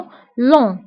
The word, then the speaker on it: long: جي ما كنتقاش آخر الكلمة كنقولو long.